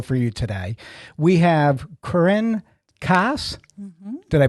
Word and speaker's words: Corinne Kaas: a great show for you today we have Corrine Cass did I pronounce it correctly you did k-a-s k-a-s and